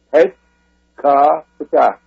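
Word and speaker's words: Het-ka-Ptah: And that's pronounced, when you read it, Het Ka Ptah.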